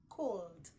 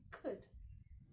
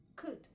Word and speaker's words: could: don't pronounce it as cold because the L in could could the L is silent I together you following